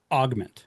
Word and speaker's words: Augmentt: All right, so the product is pronounced augment. Correct. That's correct. Right, like an augmentation.